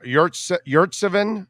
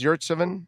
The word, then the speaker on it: Yurtseven: Yeah, Yurtseven is how it is. Yurtseven, that's how it's pronounced.